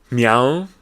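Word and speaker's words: MEOVV: talk about this one meow which is the name of a group a K-Pop group like but it's spelled like me Al it's like what the m e o double v and then they put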